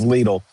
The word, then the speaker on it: Lidl: It is Lidl. Thank you very much. And since you're from Europe, I got to let Mrs. Evil know it's not Lidl, it's Lidl.